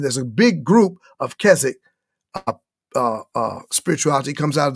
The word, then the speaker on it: Keswick: approach versus the keswick approach and kez actually k-e-s-w-i-c-k is pronounced keswick though it looks like keswick okay keswick is